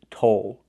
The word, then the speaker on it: toll: The second word is toll. With this word, we use a long o like no in go, but we have a dark L at the end.